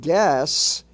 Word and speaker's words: gas: The word gas is pronounced with a hard S.